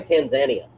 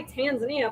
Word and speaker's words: Tanzania: and giggles, let's say we get sued by Tanzania. Tanzania? Yeah, the country. It's Tanzania, not whatever the hell you pronounce it.